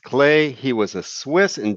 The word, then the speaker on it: Klee: an artist named Paul clay looks like Klee but it's pronounced clay he was a Swiss